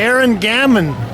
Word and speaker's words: Aaron Gamman: Aaron Gamman. Yeah, that was the first time someone pronounced it right.